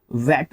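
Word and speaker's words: VAT: ये, एक तरीके से वैल्यू एडिड टैक्स, इसको वेट प्रोनाउंस करते हैं, ठीक है, ये ध्यान रखना।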